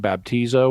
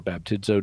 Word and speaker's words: baptizo: Christian Community so uh the term baptizo or baptizo depending on how you want to pronounce it it had a